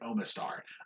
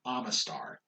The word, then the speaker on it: Omastar: almost i know yeah most people i know say ammonite and omastar i say ammonite i say yeah ammonite and amistar because then it keeps it the same some people do omanite and omastar i don't like omanite i do ammonite yeah omastar yeah i